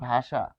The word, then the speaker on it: ভাষা: মূর্ধন স আসবে ততবার তার বসা আসবে যেমন ভাষা ভাষা এটি কি হবে ভাষ সো ল এটি